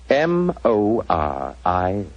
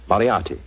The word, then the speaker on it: Moriarty: I'm afraid I'll have to begin calling it the way it looks. M-O-R-I-A-R-T-Y. Moriarty. Moriarty.